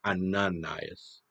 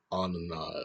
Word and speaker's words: Ananias: I think I mispronounced the high priest's name. It's Ananias. Ananias. It's a little difficult to say in this accent.